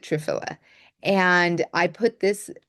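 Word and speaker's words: triphala: Now some people pronounce it trfala um but I pronounce it trfila and I put this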